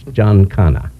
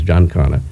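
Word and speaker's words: Giancana: do in Castro unsuccessfully you said Jan Cano or Jan Cano oh in Italian it's Jan kanana I hear other variations of it but the correct thing is John Conor okay and um that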